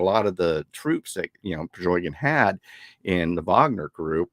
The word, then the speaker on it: Prigozhin: Pachinko, what's his Por, Prigozhin.